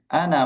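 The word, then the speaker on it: أنا: ini teman-teman ya untuk pengucapan ana itu ee diingat-ingat ana itu mesti Masih pernah ada alifnya tapi dia pendek. Ana masr ana masrur gitu.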